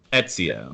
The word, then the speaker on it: Ezio: How do you pronounce that? Ezio.